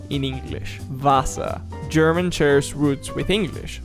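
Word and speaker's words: Wasser: For example, water sounds more like vasa. So like the W sounds like it's more like a V in English. Vasa.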